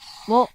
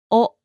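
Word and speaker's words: を: This is the Hiragana character, wo. Wo. It is also commonly said as o.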